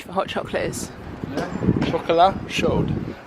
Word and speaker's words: chocolat chaud: Chocolat chaud. I wouldn't pronounce the D, but okay.